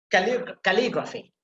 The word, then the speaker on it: calligraphy: If you have graphy at the end, then you have to put emphasis on the second syllable. Sorry, third syllable, you see. Calligraphy. So li sound, you see. Calligraphy, you have to put emphasis there.